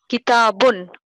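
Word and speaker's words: كتاب: আমরা একটু দেখি আপনি বলবেন ম্যাডাম এই শব্দটা উচ্চারণ করবেন কিতাবুন কিতাবুন আপনাদের জ্ঞাতার্থে একটু জানিয়ে রাখি আপনারা এটা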